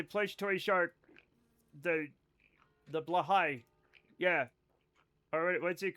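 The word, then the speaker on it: Blåhaj: toy shark the the blahigh. Yeah. Or what's it called? Blhigh. Blahigh. That's actually how it's pronounced. It's not pronounced like it's spelled.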